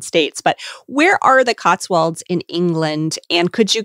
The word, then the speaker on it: Cotswolds: your life as an artisan thatcher in the Cotswolds. Did I pronounce that correctly?